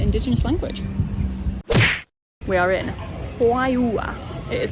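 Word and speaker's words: Juayúa: We are in Hayua, it is pronounced, and the church here is huge.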